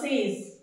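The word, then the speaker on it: sage: it's rest हम नाउ सेज बहुत easy है सेज ओके जब इसको आप प्रोनाउंस करेंगे तो इसमें एस की आवाज साइलेंट रहेगी एस की आवाज ज बन जाएगी सेज क्या बन जाएगी हिंदी में भी लिख देती हूं सेज सेज मत पढ़ना ज ज ज ज ओके नाउ दिस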